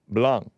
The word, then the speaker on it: Blanc: mod he says Hey the Cs in Blanc is silent blong liity BL liity BL